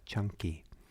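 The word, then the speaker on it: Caṅkī: uh usually um uh see a n k i that's the poly spelling c a n k i but it's pronounced uh chunky like with ch and um so he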